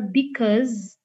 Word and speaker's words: because: Jadi O-nya tuh agak ke E gitu. Gimana caranya? Latihan sendiri ya. Ini ada be, first syllable, cause, itu ada second syllable. Ini adalah weak syllable, dan ini adalah strong syllable.